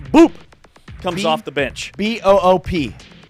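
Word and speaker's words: Mboup: B-O-O-P. M-B-O-U-P, but it is pronounced Got it. Boop.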